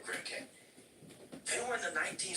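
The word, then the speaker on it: Grimké: When you started reading, you said Grimmicky. You were talking about Grimmicky. First of all, you're not pronouncing it correctly. They were Grimke.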